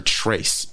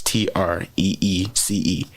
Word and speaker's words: Treece: I've been calling her Trace, and that's 3 in Spanish. How you spell her name is Treece.